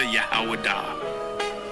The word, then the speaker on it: Yahawadah: When I say Judah, Yahawadah. That is the ancient pronunciation of the word.